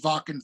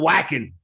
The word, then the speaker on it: Wacken: Oh yeah, and then I played Wacken 3 times with Metal Church. So that was I always thought it was called whacking. well, you know what? Because they pronounce their V's and W's.